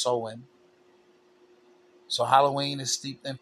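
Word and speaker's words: Samhain: It looks like Sam Hayne. Okay. But it's pronounced sewing.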